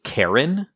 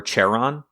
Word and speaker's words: Charon: of wished this was Charon, or Charon, however you pronounce it. I think it's Charon, because I think Charon is more how you would pronounce the Guide to the Underworld.